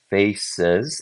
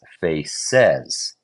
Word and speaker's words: faces: Face says. Okay, hang on a second. I don't say face says, do you say faces? I say faces. Stress goes on the first syllable.